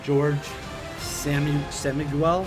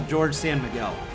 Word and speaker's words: George San Miguel: Here's a question for you, Stu, from George Samiguel. I'm not sure how you say it. George S. San Miguel. Oh, George San Miguel.